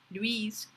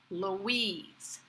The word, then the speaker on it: Louise: My name, that is Louise, is a French name, but it is not pronounced Louise, as it might be in French. Here in the US, it's Louise. Very relaxed, with the stress on the second syllable, Louise.